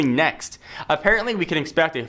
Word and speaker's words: NXT: reportedly called the NXT probably pronounced just simply next apparently we can expect